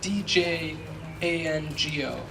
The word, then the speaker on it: Django: If you're searching for who this is, the one secret is that there's a silent D at the beginning of his name. So his first name is spelled D-J-A-N-G-O.